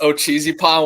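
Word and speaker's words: Ocheesee Pond: First and foremost, yes, Ochisi Pond Wild, man. You got it perfect. If you could pronounce Mogollon Monster, then you got Ochisi Pond Wild, man, all the way.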